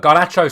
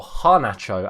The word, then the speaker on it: Garnacho: relatively well and look gacho scored or Hano as I should say as I've now learned how to say his name properly kacho scored probably the